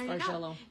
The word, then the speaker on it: Bargello: But it is pronounced Bargello.